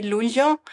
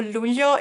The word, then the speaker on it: luglio: who's not Italian, because my husband can never pronounce the GL in the Italian way together. So the month of July, we say luglio, and the GL or luglio, it just cannot say.